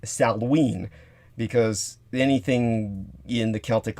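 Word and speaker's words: Samhain: the accounts believed that salween uh which is spelled s-a-m-h-a-i-n you would think it's pronounced saman but it's not it's pronounced salween because anything in the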